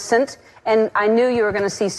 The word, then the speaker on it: Saint: We were sending all these names, and she sent St. Vincent, but it's pronounced Saint, and I knew you were going to see Saint and go, do you remember that?